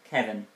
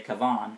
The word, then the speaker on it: Kavan: It was tricky, but eventually they got it, and were reunited with the boy, Kevin, or should I say Kavan, it's pronounced, who had brought them their weapons, so they could defeat the beast.